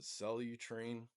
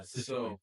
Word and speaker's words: citrulline: So at 12:30, I take I forget how you pronounce it, Cellutrine, Celtru line or whatever. It's kind of like an L-arginine. Yeah, citrulline. citrulline.